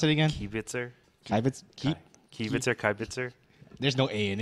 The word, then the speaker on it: Kibitzer: How you pronounce it again? Kibitzer.